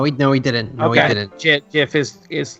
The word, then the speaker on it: GIF: he didn't know he'd know he didn't okay Jeff is is like yeah Jeff's the official way to pronounce it from the Creator is just a